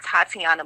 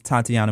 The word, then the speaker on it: Tateana: simple Facebook Instagram Twitter YouTube snapchat everything is Tatiana I tried to keep this simple so